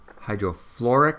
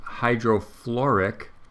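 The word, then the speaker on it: hydrofluoric: chloric so it's hydro hydro fluoric hydrochloric hydrobromic hydro yodok HF is hydro fluoric hydro and it's spelled FL you flew or ric acid HCL may have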